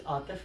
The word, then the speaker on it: Atif: My name is Atif, that's spelled A-T-I-F, and the last name is.